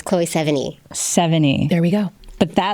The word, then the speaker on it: Sevigny: I loved the Chloe, how do you pronounce her last name? Sevigny.